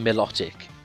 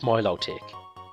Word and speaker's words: Milotic: for example the pokemon melodic it's it's pronounced milotic in the anime but i've when i first saw it i thought oh that's melodic like melodic or whatever and this is this